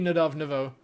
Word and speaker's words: Nadav Navo: It's funny how you always say my name right, then laugh, and then correct it to a wrong pronunciation. So it's actually Nadav Navo.